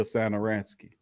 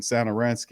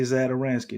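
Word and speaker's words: Satoranský: I can't even say Zadaransky no more, bro. I gotta take the Z off of there, and I gotta pronounce it right because that was embarrassing.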